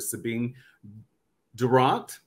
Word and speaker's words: Durrant: The one thing about my name that I always feel is rather a unique thing is that it's actually a football chant.